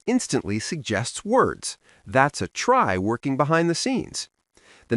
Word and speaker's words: trie: Today we're learning about a really cool data structure called try, spelled tr i e but pronounced try.